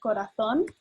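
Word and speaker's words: corazón: how to say it it's corathon and three syllables um i don't know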